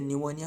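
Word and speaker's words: pneumonia: मतलब है नमो या जैसे न्यूमोनिया होती है ना प साइलेंट प न्यूमोनिया एमपीवी एंड पारा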